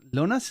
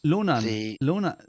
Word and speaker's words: Lonan: Lonas is not correct. Lonas. Isn't it? It's Lonas. Isn't that right, Jason? You got the pronunciation right the other night. Is that? Oh, it's Alona. Is that one of the lads who joined? Lonan. Lonan. Isn't that right? Lonan.